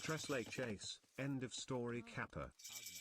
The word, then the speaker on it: tres leches: It's pronounced Tres Leches.